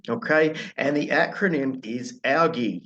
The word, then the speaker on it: ALGEE: And the acronym is ALGAE, a bit like the algae that grows in the ocean, I guess, but it is spelled slightly differently.